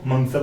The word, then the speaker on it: मंगसर: आश्विन को आसोज बोलेंगे, कार्तिक को ओनली कार्तिक बोलेंगे, कार्तिक को कार्तिक बोलेंगे, मार्गशीर्ष को मंगसर बोलेंगे, पोष को पोष बोलेंगे, ठीक है।